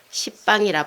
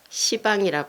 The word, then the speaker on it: 시방: 열십자인데 십방이라 발음 안 하고 시방이라 발음하죠.